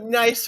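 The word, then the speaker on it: gneiss: over him and said, "Hey, Seth, that's a nice rock." And Seth is like, "What's so nice about it?"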